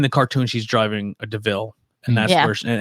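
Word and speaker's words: de Vil: kind of, in the cartoon, she's driving a DeVille. And that's Yeah. where, and then in the And she cartoon, and steals it. she's like, oh, this is a DeVille.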